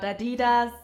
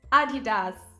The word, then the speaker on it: Adidas: think H it's not Adidas it's not Adidas it's Adidas it's a sports fashion